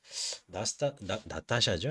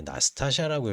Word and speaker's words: 나스타샤: 이 글을 이렇게 다시 보면서 이제 뭐 중간중간에 제가 읽기도 하겠지만은 나타샤죠. 이게 나스타샤라고 읽어야 되는 나스타샤 필리포브나 이 여자가 이제 메인 여주인공이에요.